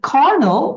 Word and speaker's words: colonel: এখানে দেখো কর্নেল, এটার বানানটা দেখো কলোনেল, বাট এটার ব্রিটিশ উচ্চারণ হচ্ছে কর্নেল, আমেরিকান হচ্ছে কর্নেল, আর বাংলাদেশ হচ্ছে কর্নেল।